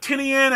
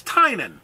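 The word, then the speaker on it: Tynion: how to pronounce it you told me Tynan right so it's not tinian it's not tinian it's Tainan okay as much as I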